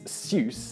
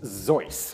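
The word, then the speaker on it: Seuss: another common mispronunciation is seus as in Dr seus this should actually be pronounced Ze this is because it's a Bavarian name after Theodore Gil's mother's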